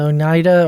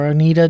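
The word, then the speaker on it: Oneida: Um they have included in their group of five to six the Mohawk, the Synica and the Onida or Onidita depending on how you say it.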